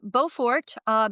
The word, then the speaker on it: Beaufort: It's called the Buford Gyre or Gyre or what? Yeah. I don't know how you pronounce. Yeah, What? this Tell is us what that is. yes, it's the Beaufort, just above Alaska, and parts of Canada, Western